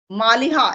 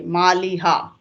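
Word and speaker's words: Maliha: your name baby please you tell malha yes malha m a l i h a malha okay so now the conversation will become easy I can call you by name all right so malha you tell me both of you study in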